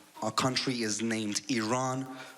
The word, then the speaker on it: Iran: the Iranian people but you're pronouncing our country's name wrong our country is named Iran not Iran you know there's discrimination everywhere you go like